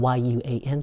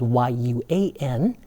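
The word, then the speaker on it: 院: And then in the word for yard, okay, which is spelled Y-U-A-N, you can pronounce it either yuan or yuan. Okay, so this one works both ways. You can pronounce it as a or e. The a pronunciation is more old-fashioned. A more modern rendering would be yuan.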